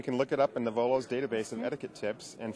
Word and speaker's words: Knovolo: I'm down here at Mobile Internet World, and I am joined by Greg Bouwens with Knovolo. The K is silent. Knovolo. Knovolo, the K is silent.